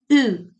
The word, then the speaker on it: eu: U. It's the combination of E and U, and the pronunciation is U.